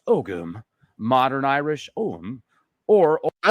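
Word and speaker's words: ogham: way I scrambled for dollars right here ogum pronounced ogum Modern Irish om or I like this guy's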